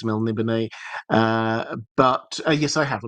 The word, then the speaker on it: Melniboné: When I first read it, it was Melnibone was how I pronounced it in my mind. I think it's Melniboné.